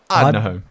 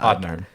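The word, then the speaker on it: Ardnahoe: Ardnaho. Yeah. Ardnaho.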